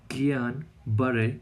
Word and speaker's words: Guillain-Barré: are talking about GBS हाउ to pronounce GBS इट is basically कियान बरे syndrome okay इसके लिए एक